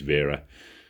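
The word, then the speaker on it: Wera: and pronounce it correctly it is vera the w is a v he is a german so i i viera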